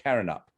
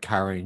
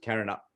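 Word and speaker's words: Carindale: shopping center and yeah it's pronounced carrying up current up yeah you weren't carrying up you should see my outtake i'll be like karine yep i don't know karen it's just carrying up yeah more than one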